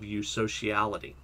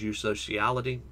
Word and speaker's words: eusociality: So what exactly is eusociality? Pretty sure that's how you pronounce it, because it's true sociality. It's EU, I'm pretty sure, is the Greek for true. Let me look that up real quick.